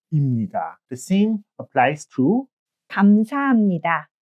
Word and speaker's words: 입니다: It's written as 입니다, but it's pronounced as imnida.